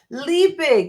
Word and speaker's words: Liebig: Liebig, it's German.